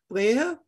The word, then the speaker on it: Brehe: But in German, his name is pronounced Frank Brehe.